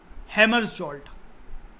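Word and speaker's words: Hammarskjöld: इनका नाम था डैग हैमर्सजोल्ट, हैमर्सजोल्ट, के साइलेंट होता है, डैग हैमर्सजोल्ट, ये सेकंड थे, सेक्रेटरी जनरल बहुत सारे रहे, ये सेकंड थे।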